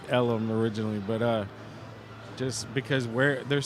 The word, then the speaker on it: Ellum: Well, no, but the story is that people couldn't pronounce Elm up far this way, up deep Elm Street. They would call it Ellum. So they called it Deep Ellum.